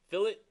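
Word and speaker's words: fillet: cool so next one fill it I know it looks like filet but pronounced to fill it unless you're I'm 82 year old from New Jersey who always says filet well the guys at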